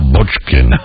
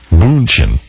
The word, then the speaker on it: Bündchen: But if I read one more story about Leonardo DiCaprio has decided to get back with Giselle Bündchen, the supermodel. How do you say that? Bündchen.